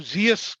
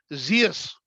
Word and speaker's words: Zeus: गॉड है वो द गॉड ऑफ जियस, called GS. English में स्पेलिंग है ZEUS, जियस, मेन गॉड।